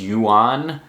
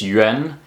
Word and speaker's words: yuan: Yen Jen Tren shren if someone talks about Chinese Yuan they are mispronouncing the name of Chinese currency it's Yen I understand the mispronunciation I empathize but that's wrong um this is as